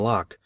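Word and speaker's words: Locke: I read Hume and lock and partly under Ood them I think though I did not know that Lo is pronounced in only one syllable till many years after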